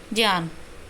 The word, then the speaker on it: ज्ञान: लेकिन ज्ञान, इसको अगर शुद्ध उच्चारण की हम बात करें तो ज्ञान बोला जाएगा इसको, ठीक है।